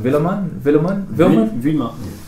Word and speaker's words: Vuillemin: My name's and I'm here with Sam Taylor, and I'm going to pronounce it wrong, so you're going to correct me afterwards. Stephen Vuillemin?